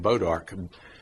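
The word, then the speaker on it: bois d'arc: That's why it's called bodark. Actually, we spell it B O D A R K. But it's actually B o I s apostrophe day apostrophe arc something like that. The bow of the ark.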